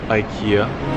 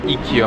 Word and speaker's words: IKEA: We're here at IKEA, black, blue, and yellow signature. Or IKEA, my bad. Yeah, I've been pronouncing it wrong my whole life.